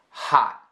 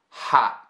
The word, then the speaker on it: hot: I do not say hot, I say hot, hot. One of the ways that I've described this in the past is that I am almost pronouncing the T, but I'm not, okay? So I'm all prepared, I'm ready to say the T at the end, hot, but then I don't end up saying it.